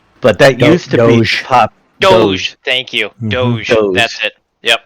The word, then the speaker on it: doge: prior to dog yes it wasn't it was douge i think it was pronounced it's d-o-g i don't know how it's pronounced but that used to pop doge thank you that's it yep but the the